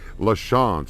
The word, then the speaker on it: LaChance: but I I see I see the word in my head LaChance is how it's pronounced and uh thank you